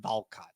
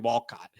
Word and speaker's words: Walcott: Uh one man Sebastian Wal Walcott I think that's how you say it's not Valcott because I that I mean that would mean that it's he's yeah I don't know but it's definitely Sebastian Walcott.